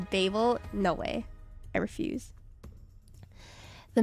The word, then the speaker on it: Babel: The city is Babylon, but the Tower of Babel is pronounced differently.